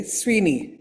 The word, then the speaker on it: Swini: And today we have Manaswini uh aka Sweeni. Is that the right way to pronounce it?